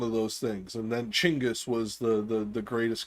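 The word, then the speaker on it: Chinggis: end up watching this chingis is the proper way to say genas Khan chingis is his name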